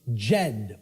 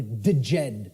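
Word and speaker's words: Djed: was known as the the Jed or the deed pillars depending on how certain people pronounce it and these Jed pillars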